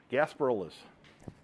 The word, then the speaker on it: Gasparilla's: Gasparillas? Is that how it's pronounced? Yep. Okay. Gasparillas.